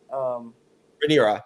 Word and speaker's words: Rhaenyra: wife, the queen, and her children, and with Rhaenyra, or however you say her name. Rhaenyra, yeah, you had it.